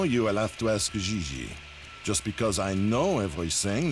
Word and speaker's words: J.J.: En français, you pronounce G like J and J like G. She may very well be JJ in America, but in France, she is Gigi.